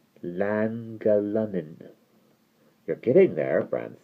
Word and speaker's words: Llangollen: hard G and the Y sound, so it's Llangollen.